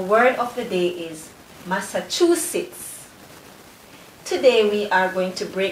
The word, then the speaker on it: Massachusetts: Generally the E says eh, but this E in this syllable is going to say E. So the syllable is s, it's, sits. S, it's, sits. So the four syllables together are Massachusetts.